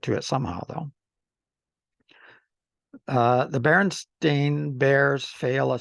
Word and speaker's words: Berenstain: I always thought it was Berenstein too. So am I pronouncing it wrong, or the spelling, that Berenstein spelling is the way I thought it was pronounced, but it looks like it's Berenstain. It's likely due to the